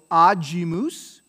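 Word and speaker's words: agimus: ga like gut so aajimus mousse right so it's a soft because it was before i aji moose but it's gloria gloria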